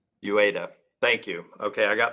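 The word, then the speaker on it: Uyeda: I've got a little crisis of confidence since I've heard 4 or 5 different pronunciations. My name is Jaime Lisaraga. Lisaraga. And mine is Mark Ueda. Ueda.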